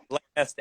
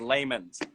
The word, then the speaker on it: layman's: Okay, Austin just learned the word lamest, and he's not even saying it right. It's layman's. I think we need to address the elephant in the room here.